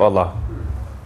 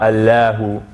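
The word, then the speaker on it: الله: in the name of allah so so the lamb so that's why we say allah and not allahu right so we say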